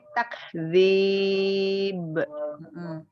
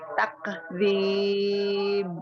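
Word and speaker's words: تَكْذِيب: Jangan memantul. Tak. Ya, takdzib. Jangan takdzib. Balil ladzina kafaru fi takdzib. Tak baru tak gitu ya. Tak dilepaskan. Tak. Dari disidahkan dulu kafnya baru di hames mengalirnya nafas ya. Jadi jangan barengan, jangan tak. Jangan takdzib. Jadi tak. Nah, baru tak, dudukan dulu makhorijul hurufnya, baru dihameskan.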